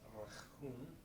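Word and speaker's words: רחום: Rachum, you gotta like the kind of sounds like you're talking about a hairball, yeah.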